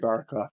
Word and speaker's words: Barraclough: today Mr YouTube handles ranted Japan it's Barac Claus is that am I pronouncing that right yeah yeah that's it Barac claw nice yeah it sounds better with the British